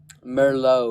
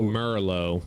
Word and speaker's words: Merlot: Merlot. Merlot, like the wine.